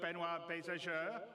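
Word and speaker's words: Benoit Beausejour: And without me waffling on, I'd like to bring CIG's CTO, Benoit Bézageur.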